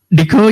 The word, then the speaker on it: DECO: How do you pronounce it? Deco? Deco, yeah, Deco.